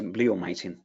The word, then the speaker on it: bleomycin: Did I pronounce that correctly? Yes, bleomycin.